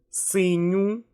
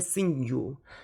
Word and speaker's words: синю: Синє, синю, синя. Okay? I don't pronounce it like синья, синье, синью.